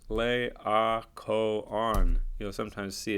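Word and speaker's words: Laocoön: guy's name is pronounced lay our Co on you know sometimes see it's like this those two dots there's not an umlaut it's called a diocese and it means pronounce this separately so the icon who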